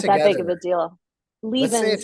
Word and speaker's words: Lievense: Leven like it's like Stevens. Levens like Stevens.